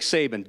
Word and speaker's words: Saban: Rhymes with Babin. Nick Saban.